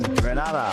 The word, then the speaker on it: Grenada: So, today like we Germans say we are in Grenada, but I heard in English it's called Grenada.